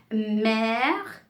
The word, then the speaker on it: mère: Accent grave, on ouvre un peu la bouche, on ouvre, hein, grave, on ouvre la bouche. Exemple, père, mère, frère.